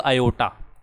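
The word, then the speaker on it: iota: हम लोग ना -1 के स्क्वायर रूट को एक सिंबल दे दिया, हमने इसका नाम कर दिया आई, और आई को प्रोनाउंस करते हैं हम लोग आयोटा, ठीक है।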